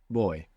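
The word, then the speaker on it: voy: our way through it the word for I go or I'm going in Spanish is is boy boy boy boy good now this is actually spelled v y now the v in Spanish can sound like a v in English like a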